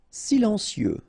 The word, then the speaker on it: silencieux: Silencieux. Final X not pronounced.